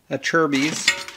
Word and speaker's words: Acerbis: skid plate's pretty useless a service at cherby's if you want to say it properly skid plate for the